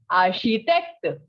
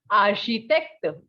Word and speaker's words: architecte: case of journalist, and the pronunciation is architecte. Repete, architecte.